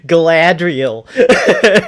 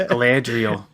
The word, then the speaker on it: Galadriel: That is actually the proper pronunciation. Galadriel. Everybody just says Galadriel.